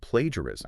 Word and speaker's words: plagiarism: on the pronunciation of plagiarism, I did, yeah. which is a very practical concern. I always stumble over this one. Yeah. Is it plagiarism or plagiarism? Plagiarism. Plagiarism. Plagiarism is the correct pronunciation.